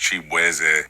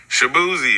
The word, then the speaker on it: Chibueze: I'm Nigerian American, so my last name is actually pronounced Chibueze. And just growing up in Virginia, like everybody just did not know how to enunciate my name. So they was just like, Shaboozey.